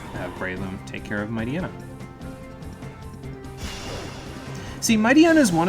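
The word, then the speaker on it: Mightyena: if you say it might aina how do you keep hitting aaron if you say mighty might i might might ain't there we go i say my diana so it takes a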